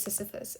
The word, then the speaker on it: Sisyphus: Is it Sisyphus? Sisyphus. It is Sisyphus.